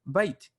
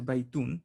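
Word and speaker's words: بيت: And we say all the time, bait. You don't have to say baitun. You say bait, masjid, bab, qalam.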